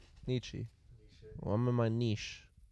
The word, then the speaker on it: Nietzsche: never known how to pronounce that word. Niche. It's niche. Niche. Niche. That's the Nietzsche. philosopher. Nietzsche. Nietzsche.